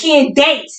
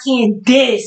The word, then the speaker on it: Candace: But, it's Candace. It's not Candice or Kansas or Kansas, whatever. You know what I'm trying to say? So the ace part is very crucial with it.